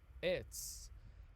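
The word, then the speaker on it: עץ: bent it straightens up so you have an etz this is how you say tree in hebrew pronounced it's and it's looks exactly like what an etz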